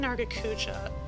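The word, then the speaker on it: Nargacuga: Up next we have green Nargacuja, which, first and foremost, yes, that is how I pronounce it. Don't at me. Green Nargacuja, for the most part, strikes me just as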